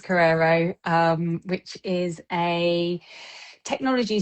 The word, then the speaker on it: Korero: Um how did I pronounce Carrerero right? You did pronounce it right. It is Carrerero.